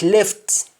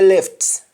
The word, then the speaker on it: left: like left on your left how do you say on your left in jamaica and you simply say pania lef panya lef you don't pronounce the t at the end of left left becomes left gift